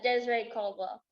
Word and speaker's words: Dezrae Caldwell: say your name for me so i don't pronounce it wrong uh desiree caldwell does desiree caldwell okay very good i wasn't